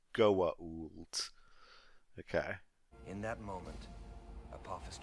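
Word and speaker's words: Goa'uld: u it's pronounced okay i think i have been saying gold but it's goat okay in that moment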